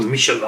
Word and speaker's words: Michelin: going on the tyres in michelin tires or michela i should say pronounce it correctly then we have got